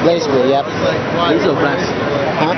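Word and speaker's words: BlazBlue: Blaze blue, yep. Blaze or blast? Huh? Blaze or blast? Blaze. It's pronounced blaze, but without the E.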